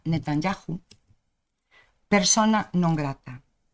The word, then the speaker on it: Netanyahu: A continuación propós que a Corporación do Concello de Ribadumia declare ao primeiro ministro de Israel, Benjamín, por certo se pronuncia Netanyahu, persona non grata.